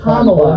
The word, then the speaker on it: Kamala: Okay, it's Kamala. Are you that stupid you can't pronounce her name right?